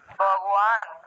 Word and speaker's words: ভগবান: কিন্তু আমি ঠোঁট না লাগিয়ে বান উচ্চারণ করি, ঠোঁট না লাগিয়ে। হ্যাঁ, আপনারা ঠোঁট না লাগিয়ে বান উচ্চারণ করেন, তাহলে দেখেন কি উচ্চারণ আসে, ভগবান। হ্যাঁ ওয়ান ওয়ান, এইভাবে ঠোঁট না লাগিয়ে বান